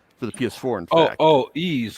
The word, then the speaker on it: Ys: for the uh for the ps4 and oh ease like the y yeah yes oh yes pronounced ease yeah that's right okay wow wow yeah i